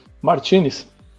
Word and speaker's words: Martinez: Você trabalha nesse mercado aí realmente há quase 3 décadas e o seu sobrenome, a gente pronuncia Martinez ou Martinez? Como é que você prefere? Martinez.